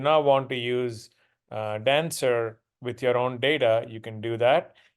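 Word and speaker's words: Danswer: but I've been told it's supposed to be pronounced as dancer which I think makes more sense um and so here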